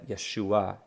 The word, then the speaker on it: Yeshua: and rabbi and Messiah Yeshua Yeshua hear that ah sound at the end that's because there's an iron with uh ah okay Yeshua Yeshua all